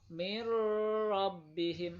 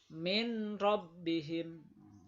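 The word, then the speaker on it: مِن رَّبِّهِم: Contoh, nun sukun ketemu dengan ro, mir rabbihim, harus masuk, nggak boleh min rabbihim.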